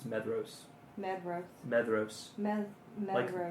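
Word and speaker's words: Maedhros: DH is always used to represent the sound of a voice voiced soft th in English. That is the th in then, not the th in thin. So, it's probably meros would be better than meros.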